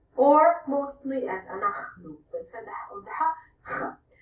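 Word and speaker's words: אנחנו: So you might hear we say it like this, anachnu, or mostly as anachnu.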